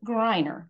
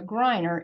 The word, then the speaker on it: Greiner: know to pronounce it Greiner because we have the focus on the second vowel there so Greiner is another Bullitt County